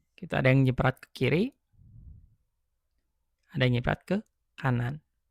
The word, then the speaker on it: 木: Jangan moku tapi bacanya qi.